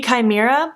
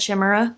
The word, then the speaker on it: Chimera: to say it wrong it's called kinky Chimera I literally would have said Shima because I've never seen this word before in my life and I didn't feel